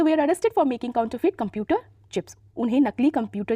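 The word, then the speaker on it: counterfeit: feet काउंट ू feet देखिए यहां पे जो आर होगा ना वो हल्का सा हल्का नहीं मतलब हल्का सा बोलना होगा साइलेंट है एक तरह से काउंटर फीट ठीक है सी ओ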